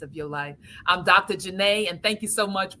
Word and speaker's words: Janet: are the audio listeners, Dr. Janet, but it's really Janae, right? That's how. Yes. It just I'm doesn't. only saying Dr. Janet because of the fact that that's how it's spelled. But her name is Dr. Janae, just so everyone knows.